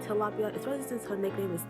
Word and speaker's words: Tilapia: I look it up and it's pronounced Tilapia, but I like to say Tilapia, especially since her nickname is Tilly, so Tilapia.